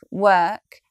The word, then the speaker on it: work: And these friends share the same spelling pattern and pronunciation pattern. So here are a few words which, like work, have that vowel in them.